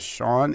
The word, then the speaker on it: Sean: Sean, is it pronounced that way? Sean? Yeah, Sean.